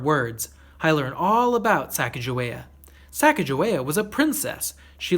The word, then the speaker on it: Sacagawea: She has a fancy name, Sacagawea. You say it like this, Sac-a-ja-wea.